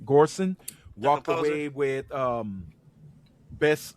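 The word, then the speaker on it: Göransson: Ludwig, is it Gorson? Gorson. Jason, that's how you pronounce his last name. Gorson walked composer.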